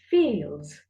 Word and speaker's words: fields: The plural form of field is fields. Fields. Fields. මෙතනදී D අකුරට අගින් S තිබ්බාම අපි S ශබ්ද කරන්න ඕනේ Z හැටියට.